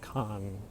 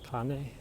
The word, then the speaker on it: Khan: There's a A in Kane, pronounced like in car. Khan. Khan? Oh, sorry. Okay. Khan. Is that better? Kane?